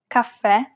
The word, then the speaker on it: caffè: If the vowel at the end is an E and it has the grave accent on top, it's indicating that we should pronounce it as an open E. And of course, we must stress the syllable. Tè, caffè, è.